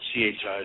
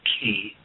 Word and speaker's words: chi: many people as chi, or spelled C-H-I, so you can pronounce it chi or ki energy in the human being.